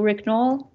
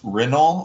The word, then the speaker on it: Ricknoll: story do you pronounce do you prefer to be pronounced renault or ricknoll i'm talking about my github username it's rick noll because people can make that work i guess um no